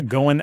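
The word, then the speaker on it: Goin': Yeah, Goin app. Goin app. Yeah. How do you spell that? Well, it's GOIN apostrophe, like going, but short.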